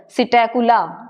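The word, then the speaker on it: Psittacula: मतलब पिजन मतलब कबूतर सिटेक पी साइलेंट है यहां पे पैरेट तोता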